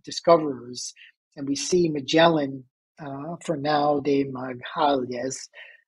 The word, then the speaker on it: Fernão de Magalhães: And we see Magellan, Fernão de Magalhães, I think is how you pronounce it in Portuguese, behind da Gama.